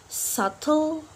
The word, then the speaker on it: subtle: consonant t for example subtle dad and Dot yep we not pronounce the letter B when after letter B we have letter t letter is letter C so in the